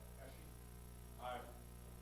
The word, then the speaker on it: Hesje: Brent Hesje. He was on our board for several years before I finally figured out exactly how to pronounce his name. It's kind of like sneezing. Hesje.